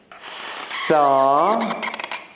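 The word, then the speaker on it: ث: So this tha sound, so this tha is something like between T and S. Tha. They write it TH, but it's something like T and S. Tha.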